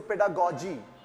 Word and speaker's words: pedagogy: have to notice that this first G is pronounced like girl pedagogue and second G is G so pedagogy now adjectives which has been drawn from this pedagogy is pedagogical or pedagogical